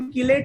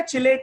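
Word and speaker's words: chelate: नहीं नहीं, इसका प्रोनाउंसिएशन कीलेट नहीं है बेटा, चिलेट है। ची बोले तो चिड़िया वाला ची।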